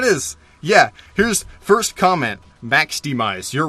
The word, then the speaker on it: MAXDMYZ: Max Demise, you're right, you're not qualified.